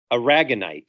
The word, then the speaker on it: aragonite: mineral that makes pearls the same mineral aragonite i think i'm pronouncing that correctly aragonite a-r-a-g-o-n-i-t-e aragonite is is is